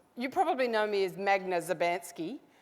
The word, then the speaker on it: Magda Szubanski: Some of you might even think my name is Mesda. I'll tell you he actually pronounce my name it's Magdalena Maria Theresa Szubanski but you can call me Megs.